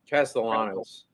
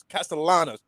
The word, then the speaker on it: Castellanos: Castellanos. Castellanos.